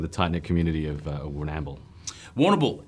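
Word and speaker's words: Warrnambool: Woonamble, as they pronounce it. Oh, Woonamble. Woonamble.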